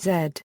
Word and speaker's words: Z: Most of the English-speaking world pronounces it 'zed'; however, in the United States, it is pronounced 'zee'.